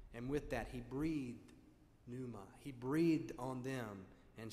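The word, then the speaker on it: pneuma: into us the Greek word for spirit is Numa P Neu m a numa it means the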